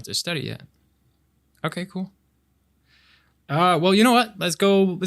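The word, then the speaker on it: oui: How do you say yes? We. Yeah, yeah, like we. We, like us. Like if you were to say we are going to the park, but just the we.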